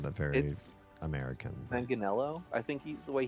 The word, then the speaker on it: Manganiello: No, Joe Manganiello. I said that very American. Manganiello? I think he's the way he pronounces it. The first part's mangia in Italian, like eat.